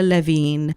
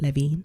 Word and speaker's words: Levin: the prince by Angela Levine May 30th 2019 that was the first time a book came out so the table of contents for Angela Levin's book sorry for the mispronunciation it's Levin not Levine chapter one welcoming Megan